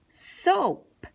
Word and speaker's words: soap: we read this word we're saying oh soap and the a is actually saying nothing it's quiet let's go across to